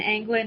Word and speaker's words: Anglin: with a z and anglin is a-n-g-l-i-n um like if you were going fishing and you left the g off england okay we're going